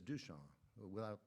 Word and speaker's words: Duchamp: 5th person down, there's Duchamp. He didn't bother with the P. You don't pronounce it anyway. So he's recommending that Duchamp be included in that